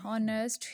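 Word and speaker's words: honest: नेक्स्ट वो क्या कह रहे हैं, it will be noticed that the words horror, ऑनेस्ट, hair begin with the wall sounds as the initial as इज़ not pronounced.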